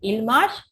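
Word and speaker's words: ils marchent: Ent is silent, so pronunciation is il marche, elle marche.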